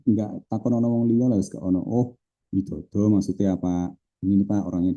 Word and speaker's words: Widodo: W I D O D O. Bacanya kan widodo kita ya. Kalau orangorang Barat gimana? Waidodo gak ono Indonesia gak ada.